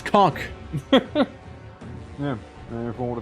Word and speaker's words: Kok: It's not how you spell it. It's K-O-K. It's cock.